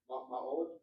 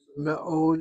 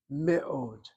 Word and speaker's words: מאוד: ma'od. Me'od is very. Me'od.